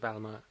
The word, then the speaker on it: Amalur: This time, it's the same thing with Kingdoms of Amalur and...